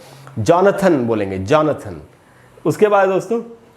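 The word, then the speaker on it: Jonathan: और इसको दोस्तों हम पढ़ेंगे जॉनथन। इसको जोनाथन नहीं पढ़ना है जैसा हिंदी में लिखा रहता है जोनाथन। जोनाथन नहीं होगा, जोनाथन स्विफ्ट जो मेरे ख्याल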